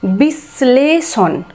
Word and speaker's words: বিশ্লেষণ: তারপরে দেখো বয়রসি তালাবস্য লয়ে একার মূর্ধন্যস্য মূর্ধন্য, বিশ্লেষণ। তাহলে এখানে তালাবস্যের সাথে ল যুক্ত আছে, তো স্বয়ের উচ্চারণ জোরে হবে একটু বা স্বয়ের উচ্চারণ দুবার, বিশ্লেষণ, বিশ্লেষণ, স্বয়ের উচ্চারণটা মনে হচ্ছে যেন দুবার হচ্ছে।